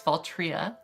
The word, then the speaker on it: Valtrya: to pronounce it's it's it looks like fault right it's faltria but a trio you're